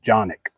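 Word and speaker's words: Canik: canic this is also a 9mm it's actually pronounced johnic when I did have my my gun shop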